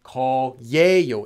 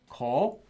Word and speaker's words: 거예요: This is written as 예요, but when you pronounce it, you do not pronounce it ever as 거예요. It's always pronounced as 거에요.